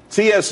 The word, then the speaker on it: Tsu: there's more money and everyone could be happy csu is pronounced sue though that's that's the website dot